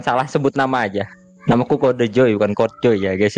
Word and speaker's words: KodeJoy: Sausnya jadi bacanya Kode Joy, bukan Kode Joy seperti itu.